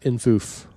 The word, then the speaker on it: infoof: Well, they whimsically insist that it be pronounced infoof.